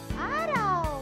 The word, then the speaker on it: araw: Araw.